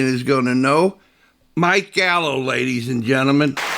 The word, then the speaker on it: Gallo: Mike Gallow, ladies and gentlemen. Did I pronounce it correctly?